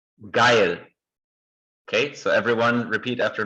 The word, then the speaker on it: geil: wherever you imagine, but it's actually pronounced like the first person pronoun in English.